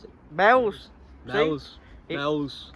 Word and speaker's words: Meols: Yeah, Meols. Meols. Meols, yeah. Meols. That's how you pronounce it. Meols.